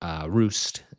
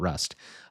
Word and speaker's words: Rust: And then on Saturday morning, we're driving over to Roost, is apparently how you pronounce it, not Rust.